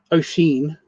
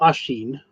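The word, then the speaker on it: Oisín: Oeen or Ashen is O I S I N.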